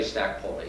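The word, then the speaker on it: Stac Pollaidh: This is Coldeeg, about 2,500 feet, and that's Stack Poli. You would never guess that's the way it's pronounced. You look at Poli, but anyway, the locals say Stack Poli, so who am I to disagree?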